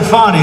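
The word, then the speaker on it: Fani: have to pronounce it fonnie it's called Fanny you have to pronounce fonnie I don't know how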